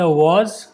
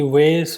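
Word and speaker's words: vase: the girl packed the वाज this is pronounced एज वाज ना कि वेस और वास और something this is pronounced एज वाज just like वाज the girl packed the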